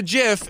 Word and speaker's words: GIF: god no way cuz it looks like it's gif but it's a jiff it's called a jiff the found ideas say that cuz the founder right founder says it's Jeff screw you buddy it's gif but there's no way